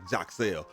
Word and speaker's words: Yaxel: let y'all know that the correct pronunciation of his name is more like Jacel. But for the purposes of this video, we're just going to go with Yaxle because that's what more people are familiar with.